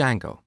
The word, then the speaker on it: Django: popular framework called D Jango so it's spelled with a silent D and it's pronounced Jango it's a web framework